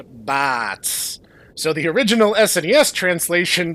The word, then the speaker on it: Bartz: Bartz's name in Japanese is pronounced Bats.